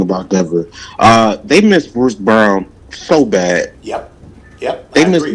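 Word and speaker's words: Braun: After he gets off the court, Brown, he spells his name Brawn, but it's pronounced Brown.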